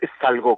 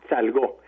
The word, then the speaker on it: Salgó: Es Salgo, con acento en la O. Salgo.